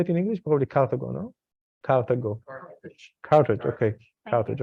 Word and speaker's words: Carthage: So Spain, France, Algiers, Morocco today were Carthage and Carthago in Hebrew and Phoenician. How you say it in English? Probably Carthago, no?